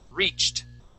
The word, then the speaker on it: reached: sound okay it ends with a CH this is a t sound the word is reached reached good one more